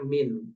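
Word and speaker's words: مِن: ke Isim kan itu makanya kita bacanya min bukan Man kalau Man kan artinya adalah orang ya Ini bacanya Min ya Ma mauduatihi itu maksudnya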